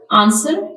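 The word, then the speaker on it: answer: silent of T site आंसर W silent रंग W silent rest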